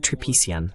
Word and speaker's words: Tripician: J'ai oublié de vous demander si vos nom de famille se prononce Tripician. Est-ce correct ? C'est tripiciant. D'accord. Presque. C'est tripiciant.